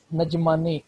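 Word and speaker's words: N'Djamena: उसके बाद छड है, नजमानी, ए डी कैप साइलेंट पढ़ते हैं इसका, तो नजमानी इसका कैपिटल है, ठीक है।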